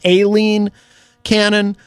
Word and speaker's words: Aileen Cannon: It's not Eileen, it's Aileen Cannon, the judge who is presiding over the Trump's document case.